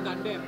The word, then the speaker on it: Gundam: Gundam itu pengucapan sebenarnya adalah Gundam. Iya, sebenarnya Gundam. Tapi kita pakai dialek Indonesia aja ya, karena sejak yang belum tahu Gundam. ya, bukan Gandum ya.